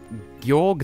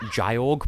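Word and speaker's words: Gyorg: Well, thing is, as a child, I pronounced it Jyorg, but like, it's... As someone who speaks Japanese... Unfortunately, I can confirm it is Georg, so...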